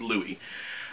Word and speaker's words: Louis: start calling him louis because in one of the books it does say that it is the uh the french or the new orleans pronunciation of lewis so it's louie um louie and angel